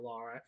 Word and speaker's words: Lara: First, Lara shows Powell, I'm sorry, I keep pronouncing Laura instead of Lara.